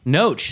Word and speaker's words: Knoche: It's pronounced right, Knoche? Knoche.